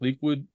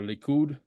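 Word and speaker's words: Likud: founded the party uh I think it's pronounced liid uh or leud and that party is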